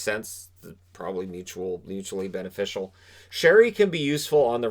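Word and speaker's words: Sheary: uh connor sherry and it is sherry i know people always it's sherry why does it spell like he pronounces it sherry so connor sherry free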